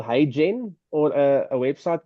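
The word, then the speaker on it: HeyGen: Um, a there's a company called Hey Genen or a website called Hey Gen.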